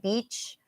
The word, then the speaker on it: beach: But again, pantay, beach, has a long E sound. And the other one has a short sound like like it.